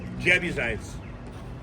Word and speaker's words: Jebusites: how do you say um the um Jebusites and the Jebusites.